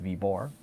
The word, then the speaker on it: Viborg: And I'm taking that from in Denmark, the city of Viborg on the map is pronounced Viborg without the G.